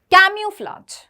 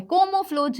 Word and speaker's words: camouflage: देखो, कैम्यूफ्लाज, कैम्यूफ्लाज, तो ये तो कोमो हो रहा है, कोमोफ्लोज नहीं है, गलत। कोमा नहीं है, कोमा भी नहीं है, क्यूमा ये भी नहीं है, कैम्यूफ्लाज, कैम्यूफ्लाज, यहां पे ये सेट बैठ रही है।